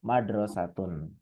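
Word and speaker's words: مدرسةٌ: Jadi, enggak bisa kita ngomong almadrosatun, enggak bisa. Harus ngomongnya almadrosatu atau madrasatun. Ada lagi yang mau ditanyakan?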